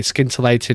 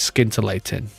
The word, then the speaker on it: scintillating: You don't pronounce the C in scintillating, by the way. Scintillating is scintillating.